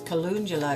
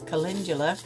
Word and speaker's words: calendula: I thought it was calendula. It's calendula.